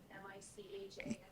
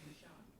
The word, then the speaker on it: Michonne: I can never say her name, Michahan. Oh, Michonne.